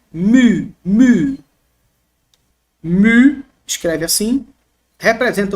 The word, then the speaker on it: mu: maiúsculo e o minúsculo como se escreve grego mu não é Mi tá gente é um